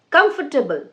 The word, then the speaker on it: comfortable: So, for pronunciation, like some people say, it is very comfortable. No, it's comfortable.